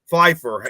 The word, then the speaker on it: Pfeiffer: Michelle Pfeiffer.